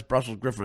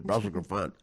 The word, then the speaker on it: Brussels Griffon: And if a straight guy hears somebody, even if they know that the real way to pronounce Brussels Griffin is Brussels Griffon, you never, on a